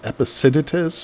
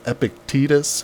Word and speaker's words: Epictetus: One of my favorite philosophers was a Roman named Epictetus or Epictetus, however you want to pronounce it.